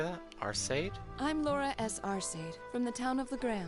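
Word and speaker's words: Laura S. Arseid: I'm Laura S. Arcade, from the town of Legrand.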